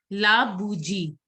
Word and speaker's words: la bougie: La bougie. La bougie. Devi, can you pronounce la bougie?